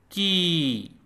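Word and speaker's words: की: And the way you pronounce it is like k double e in keen, keen, keen, and like kee in goalkeeper, goalkeeper, goalkeeper, goalkeeper, goalkeeper.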